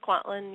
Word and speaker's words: Kwantlen: let's see you call conducting make sure I pronounce this right quantum and secondary yes Kwantlen yes okay oh I got yeah yeah yeah